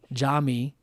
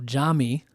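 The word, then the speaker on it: Yami: So Jami, your name and as everyone will know is spelled with a Y but is pronounced with a J. And so Jami is spelled Y A M I. So Jami, then you have AJ,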